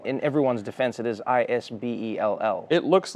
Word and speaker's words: Isbell: Some people say Isbell. Yes. You say Isbell. I say Isbell. And even in Texas, there are Isbells who will correct me on how I pronounce it.